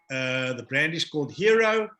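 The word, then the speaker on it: Hiro: So the brand is called Hero. Hero simply because, you know, out there, people are under pressure. People are under pressure, and that I, remember, hero pronounced, spelled H-I-R-O, that I is you.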